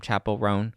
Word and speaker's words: Chappell Roan: rone is that how you say her name Chapel rone yes I'm so sick of this chick okay